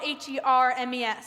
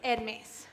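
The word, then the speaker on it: Hermès: designer scarves ades well it's spelled h e r mes so oh Hermes like the Greek god I believe that's prouns Hermes my dear well no in this case it's edes whatever you say Marina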